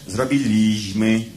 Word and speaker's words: zrobiliśmy: O, charakterystyczne, co prawda kilkanaście lat temu, ale na przykład, pisało się w owym czasie zrobiliśmy, a prawidłowo należało podówczas wymawiać zrobiliśmy.